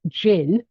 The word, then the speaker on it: gin: But then if you look at something like gin, spelt with a G but said with a J, again, confusion reigns.